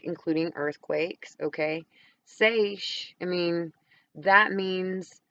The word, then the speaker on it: seiche: And they use these words, seismic seiche is actually how it's pronounced.